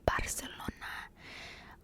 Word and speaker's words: Barcelona: I love how Spanish people say that because I've always been around like Latin American Spanish, and obviously they don't pronounce, they would say Barcelona, but in Spain they say Bath, like they have a lisp when they pronounce that letter, which is interesting.